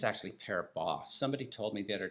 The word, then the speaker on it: Paribas: I think it's actually Paribas. Somebody told me the other day, it's like, don't pronounce the S. Anyway, I've been saying Paribas forever, so I'll just keep doing that.